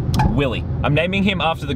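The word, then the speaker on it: Willeh: So his name is going to be Willie, right? But it's going to be spelled how Willie from The Simpsons says it. So W-I-L-L-E-H. So when you say his name, you've got to say it like, Willie!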